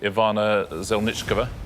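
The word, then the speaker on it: Ivana Zelníčková: of the others first also commend your pronunciation of Ivana zel nichkova which is very good but she married Donald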